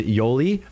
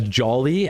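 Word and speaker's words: Yoly: girl on there and her name is Yoli um and she's like Hispanic right um but it's spelled y-o-l-y but I always refer to her as Jolly as if it was spelled j-o-l-y right which is still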